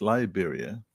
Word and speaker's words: Liberia: All right, it's Liberia.